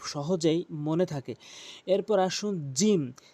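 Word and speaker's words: ج: এরপর আসুন জিম। জিমটি মনে রাখবেন, জিহ্বার মাঝখানের অংশটা উপরের তালুর সঙ্গে মিলিয়ে উচ্চারণ করবেন। এর সঙ্গে ৩টি হরফ রয়েছে, মনে রাখবেন। জিম জিম এভাবে টেনে উচ্চারণ করবেন, জিম।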